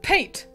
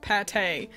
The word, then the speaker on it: Pate: got a new villager paint or I I suppose it's supposed to be pronounced Pate but I think calling